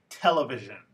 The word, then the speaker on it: television: rule so for example the word television has word stress on the first syllable not the third one the word politics